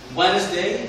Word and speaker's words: Wednesday: Wednesday هنا دي silent ما انطقهاش، silent ساكن ما انطقهاش.